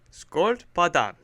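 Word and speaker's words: sköldpaddan: learning Swedish with Chris the Swedish word of the day is SC padan it means Turtle it's spelled s k o with two little dots above it l d p a d d a n scon thank you for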